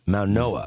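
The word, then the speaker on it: Mauigoa: And they get their cornerstone, Maunoa. Is that how you say his name? Yeah. Francis from the from Miami. So, It's the G as the N. Yes. Maunoa.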